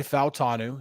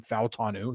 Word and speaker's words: Fautanu: round pick offensive tackle out of Washington Troy fanu yes that is the correct way to say his last name fanu he said it last night um yeah so